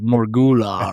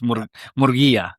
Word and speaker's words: Murguia: been pronounced there, like Morgula or something like that. And I'm like, nah, that's not it. It's Murguia.